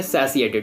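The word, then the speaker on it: satiated: है सैसिएटेड इसको आप कुछ पर्सन इसको अलग तरीके से पढ़ते हैं बट इसे देखो मैंने यहां कर दिया रिलेट सैसिएटेड ओके सैसिएटेड इसे प्रोनाउंस से करना है सैसिएटेड इसे आप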